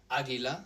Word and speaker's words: águila: Águila, this one even has an accent, águila, meaning eagle.